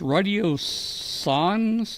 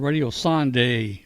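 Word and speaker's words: radiosonde: He's going to talk to us about these radio sons. Is that how you say it, Bill? Radio son? That's right, radio science. Yeah, Radio Son. I keep on saying Radio Sonde, but it's Radio Son.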